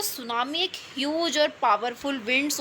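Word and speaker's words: tsunami: इसे हम तसामी नहीं पढ़ेंगे। टी साइलेंट है सेंस सुनामी पढ़ते हैं।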